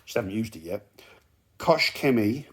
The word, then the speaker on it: Koch Chemie: haven't used it yet kosh kemi with a t koch with a t you get the proper essex pronunciation here on this channel geezers